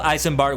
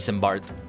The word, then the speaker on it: Eisenbart: For now, tell Eisenbart what we have learned here. Yosh, I think Eisenbart is the right way to pronounce it, not Embbart, as I said, as as I first said it.